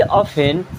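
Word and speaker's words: often: नहीं था ही ऑफेन makes me laugh ही मीस ऑफेन मीस अक्सर यहां पर टी साइलेंट होता है इस ऑन पढ़ते हैं मेक्स मीस बनाता है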